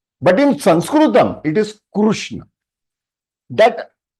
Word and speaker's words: कृष्ण: It is Krishna, not Krishna. Kri बोलेंगे तो कृष्ण, लेकिन कृष्ण is the right pronunciation in Sanskrit.